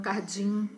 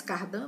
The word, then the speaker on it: Cardim: Então, nós tivemos jesuítas como Padre Manuel da Nóbrega, Fernão Cardim, né? Não é bem essa a pronúncia, acho que se pronuncia mais Cardan, mas eu vou pronunciar como está escrito, né?